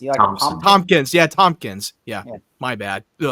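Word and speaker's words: Thompkins: Tom Tom, how do you pronounce that last name? Tomkins. Yeah. Tommpkins.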